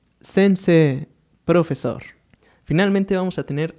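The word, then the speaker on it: 先生: de acá, teniendo en este caso profesor como sensei. Vamos a escucharlo nuevamente. Gakusei, estudiante, y sensei, profesor.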